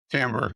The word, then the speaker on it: timbre: It sounds like timber, but it's pronounced timbre.